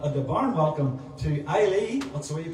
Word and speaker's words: Eilidh: acoustic night, well, at the barn welcome, to Eilidh, that's the way you pronounce it, Eilidh.